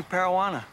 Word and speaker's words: Parawana: Donnie Parawana. Rhymes with marijuana. That and piranha.